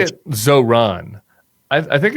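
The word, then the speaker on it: Zohran: And why do you say it Zoron? I I think it's Zoron. Is it where do you put the emphasis on? I think you're putting the emphasis on the wrong syllable.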